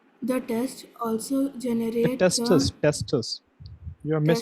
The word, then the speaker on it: testis: Tests. Most males have a pair of tests or testicles. The tests consist of coiled tube-like structure that produces sperm. The test also generate the Testis.